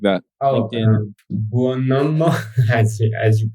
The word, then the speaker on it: Buonomo: Buonomo, as you pronounced it formidably at the beginning of the show on GitHub.